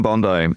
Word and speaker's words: Bondi: Yeah, Pam Bondi. I pronounce it like the beach, and I probably shouldn't.